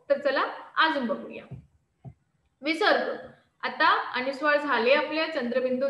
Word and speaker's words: विसर्ग: को विसर्ग कहते है इसका उच्चारण ह के समान होता है हा जो बिंदू तुम्हाला